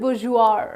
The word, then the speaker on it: bourgeois: might not have heard of it so it's pronounces booze you are right so booze sure what does booze you